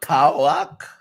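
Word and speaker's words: PAOK: 2-1 against Leicester City, and 3-0 over Pauk. Pauk. P-A-O-K. That's how you say it. P-O-A-K. Pauk.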